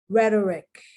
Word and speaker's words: rhetoric: mia rheem rheology these are more medical terms rhetoric it's nothing but a bunch of rhetoric rhetoric